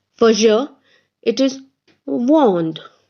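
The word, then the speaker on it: vends: form of the verb it is v-e-n-d-s s is silent two it is same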